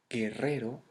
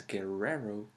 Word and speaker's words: guerrero: for example the word guerrero that you may pronounce as guerrero it's guerrero guerrero guerrero same for the word